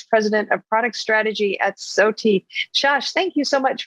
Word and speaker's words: SOTI: And am I pronouncing it correctly? You are pronouncing it correctly. SOTI, hey, yes.